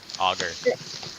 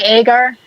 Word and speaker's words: agar: butchered so agar agar how do you say agar auger but like yeah I say agar but like I've noticed everyone says it differently even when you work